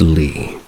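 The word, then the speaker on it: Leah: My name is Lee, spelled E A E, but pronounced Lee. I put the parenthesis because most people mispronounce my name all the time. And for clarification, it is Lee like C T Flea, etc.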